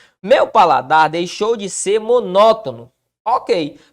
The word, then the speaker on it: monótono: Paladar deixou de ser monótono Ok perceba que tá a sílaba tônica monótono ó tá na antepenúltima sílaba Que papo é esse